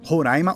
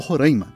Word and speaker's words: Roraima: Tem uma briga de como se pronuncia o nome, Roraima ou Roraima, e muitos especialistas dizem que os dois estão certos na verdade.